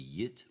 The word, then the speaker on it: yet: In modified received pronunciation, which is my base accent, which would be yit I'll hammer it out in OP. So we don't say, I say yet, we don't say yit.